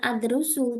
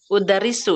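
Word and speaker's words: أُدَرِّسُ: Kemudian tadi ustazah kan mengajar ya, maka ini bacanya bukan adrusu tapi udarisu ya.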